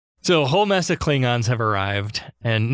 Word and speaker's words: Klingons: a whole mess of Klingons have arrived and note here that Sulu says klingens they still haven't quite canonized the pronunciation Kirk orders Sulu to